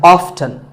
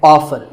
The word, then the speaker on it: often: Next up is often. Some pronounce this as often. Now, strictly speaking, often is not wrong, but the more common pronunciation is with the T silent. So I recommend that you always say often.